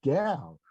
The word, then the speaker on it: Gaal: and that same character, they take the name Gal, which is spelled by Asimov Gaal, and they pronounce it Gal, which is fine with me, and they make it a woman character.